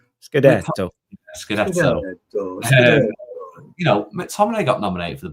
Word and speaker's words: Scudetto: You have to say it like this. Scudetto.